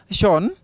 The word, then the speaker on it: Sean: So this is Sean, S-E-A-N. Why is it S-E-A-N and being spelled as being pronounced as Sean?